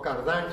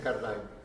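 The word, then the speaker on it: Cardijn: cardenal belga, Joseph Cardin, o Cardin se lo pronuncian a la francesa, pero me parece que los flamencos la pronuncian Cardin.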